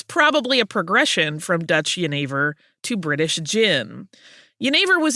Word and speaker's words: jenever: Yeah, because jenever is spelled Genever. So if you're reading it on a page as an English speaker, it looks like it's Genever.